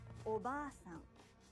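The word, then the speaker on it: おばあさん: Oba-san. The a in ba is held for 2 claps. Oba-san. Japanese learners often shorten the long vowel in ba and say oba-san, meaning aunt, not grandmother.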